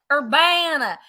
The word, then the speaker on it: Urbana: is not staying in Urbana. Urbana, girl. Sorry, Urbana. Everyone tells me I need to say it like I have a Southern accent. So that's what I try to think of.